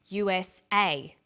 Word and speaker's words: USA: is pronounced separately but the last letter is pronounced more strongly because it carries the primary stress so we say USA ASAP ABC and TV